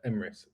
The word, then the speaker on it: Emris: His name is Emrys Media or Imris. Yeah. How do you pronounce it? Emrys, EMRIS Media. Emrys.